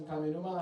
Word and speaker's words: Kaminuma: Um, is it Kaminuma? Yeah, it's my name. Okay. Yeah. Uh, did I pronounce that correctly?